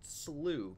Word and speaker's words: Slough: This is apparently pronounced Slough, Canyon Slough. Who would have known it?